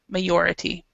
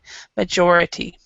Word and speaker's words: majority: So the J. When you were reading, you made it sound like it was with the Spanish pronunciation, majority, but majority.